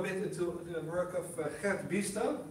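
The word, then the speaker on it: Gert Biesta: And here I go a bit into the work of Gert Biester, as we pronounce his name in Dutch, educational philosopher, who talks about education as existing with the world.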